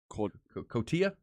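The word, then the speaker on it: Cotija: Cotilla. Stinky. That's how you say it. That's what I said. Cotilla. Cotilla. Cotilla. You got several people who have sent the pronunciation.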